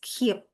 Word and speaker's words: Keap: Thank you, Bimal, and I stand corrected. That pronounced as keep.